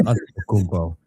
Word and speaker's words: Antetokounmpo: No, it's Antetokounmpo. How could you ever pronounce it any other way?